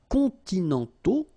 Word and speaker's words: continentaux: Okay, so les climats continentaux. Remember, final X not pronounced, and then this A, U together, they give you the sound O.